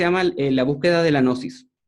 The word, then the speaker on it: gnosis: la búsqueda de la gnosis, se escribe con una G muda. Y la gnosis es un estado mental